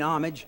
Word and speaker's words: homage: with the Roosevelt, but I mean homage, and I say that in as humble as I can be with a silent H, is that they sometimes get long.